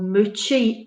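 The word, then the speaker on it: Mooji: like i would recommend um a guy called muchi is his name is spelt let me get your pen out again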